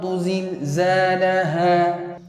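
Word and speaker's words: زلزالها: You pronounce them by placing the tongue behind the teeth. You close the teeth, then your tongue is behind the teeth. So, it becomes either zul zilzalaha. So, that's the right way of pronouncing it. Let me repeat it again. Either zul zilzalaha. So, the first one is a bit blunt, then the rest is very sharp.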